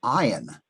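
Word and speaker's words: עין: It has a numerical value of 70, and it's a silent letter, just like the very first letter, the Aleph that we talked about earlier.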